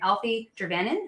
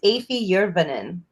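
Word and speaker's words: Afie Jurvanen: say his name right alfie gervanan am i saying that right his name's afee yerbanin yeah so i'm not even close so right on you're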